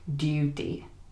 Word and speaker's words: duty: But in the British accent, we are more likely to say something like duty with the U sound. Duty, duty.